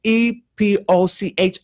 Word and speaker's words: Epoch: Times it's called it I say epic times I hope I'm pronouncing it correctly it's e p o c h I'm you know I I yeah I lean towards saying Epoch but that's I may be wrong no that's right well they call it